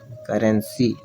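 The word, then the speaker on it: currency: हैं, ठीक है, लेकिन सी के बाद वाई हो तब स पढ़ते हैं, तो इसको पढ़ेंगे करेंसी।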